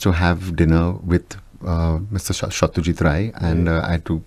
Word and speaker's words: Satyajit Ray: and which you have to pronounce as Satyajit Ray.